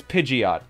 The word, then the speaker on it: Pidgeot: like that all right stop calling it that it's pidgeot you know it's after a pigeon right pidgeot pigeon pigeot pidgeot snowy thanks to the three